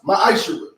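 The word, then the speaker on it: מַעֲשֵׂר: Means tenth in Hebrew, and it's pronounced ma'ashara.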